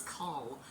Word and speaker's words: Coll: This symbol is Cull. C-O-L-L, but pronounced Cull, like C-U-L-L. It's going to be the hard C or the K sound, and I keep looking at the wrong place.